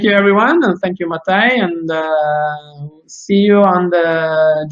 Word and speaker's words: Matej: Matej, hai pronunciato correttamente.